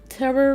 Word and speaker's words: taro: Taro root? No, taro. That's how you pronounce it.